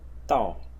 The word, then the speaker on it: 道: as well which is pronounced Tao in the fourth tone and even people that